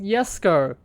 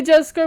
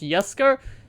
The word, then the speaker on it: Jesko: are unlocking the koenigsegg yes go i wanted to say jessica but apparently because like the swedish pronounce it as um with the y so it's yes go so that's how you